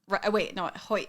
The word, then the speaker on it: Hoyt: Hoyt. I always say it wrong. Hoyt.